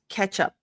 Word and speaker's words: catch up: So ketchup, it does sound like the sauce, the tomato sauce, ketchup. So it's not ka, but ke. Ketchup. The T is the TCH just sounds like a CH.